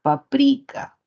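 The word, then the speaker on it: paprika: el condimento no y muchos le dicen páprica páprica como la lengua original de repente algunas personas lo vieron y dicieron y le le le entendieron leyeron pronunciaron paprica Por qué Porque la tendencia del español es a fomentar palabras graves sabemos que el acento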